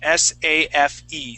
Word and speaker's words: safe: safe safe yeah so s-a-f-e safe okay that has a long a sound safe safe yeah okay